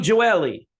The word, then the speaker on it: Gioeli: Guitarist Tony Hernando, Kent Hilly from Perfect Plan, Ches Kane is on this, Johnny Gioeli, or the proper pronunciation be Johnny Gioeli.